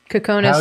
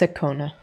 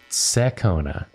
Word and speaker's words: Sekona: Kekona said it's pronounced Sekona. Sorry. Sekona.